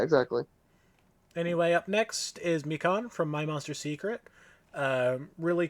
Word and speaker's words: Mikan: pronounced Mikan.